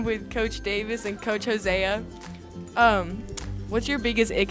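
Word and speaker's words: Hosea: Davis and Coach Jose Jose it's oh heck no it's Jose it's Jose it's spelled h o s e a Lord have mercy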